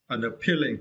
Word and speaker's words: unappealing: Unappealing. Yeah, for this word, you need to stress the third syllable P.